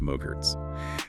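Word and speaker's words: MOGRT: Yes, Mogart files, pronounced mogurts.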